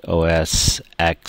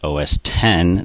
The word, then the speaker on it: OS X: you can redownload the Mac OS X sorry OS 10 that's the proper way to say it lion which just came